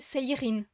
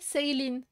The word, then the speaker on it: Seirin: À la française, c'est Seirin. Et à la japonaise, c'est Seilin. Puisqu'il n'y a pas le L en japonais. Le R se prononce presque comme un L.